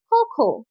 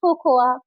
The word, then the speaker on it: cocoa: Next, COCOA। কি বলবে? খোকোয়া? এটাও ভুল। সঠিক হবে খোখো, নট কোকোয়া।